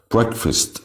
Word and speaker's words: breakfast: breakfast بنتك على break وبنخطف fast. breakfast.